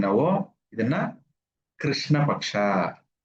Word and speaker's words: ಕೃಷ್ಣ: ಅವಾಗ ಇದನ್ನ ಏನ್ ಕರಿತೀವಿ ನಾವು? ಇದನ್ನ ಕೃಷ್ಣ ಪಕ್ಷ. ಕೃ ಅಂತ ಬರ್ಬೇಕು. ಕೆಲವರೆಲ್ಲ ಏನೋ ಕೃಷ್ಣ ಕೃಷ್ಣ ಅಂತೀವಿ, ಕ್ರೀ ಅಂತೀವಿ. ಕ್ರಿಶ್ಚಿಯನ್ ಅಂದಂಗೆ, ಕ್ರಿಸ್ತು ಅಂದಂಗೆ. ಹಾಗಾಗಿ ಇದನ್ನ ನಾವು ಯಾವಾಗ್ಲೂ ಕೃ ಅನ್ಬೇಕು.